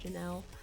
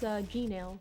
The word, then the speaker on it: Gnail: Gnail. I didn't know how to pronounce it. Oh, it's fine. Yeah, it's Gnail, but well, a lot of the time people say Janelle, but it's Gnail specifically. Gotcha.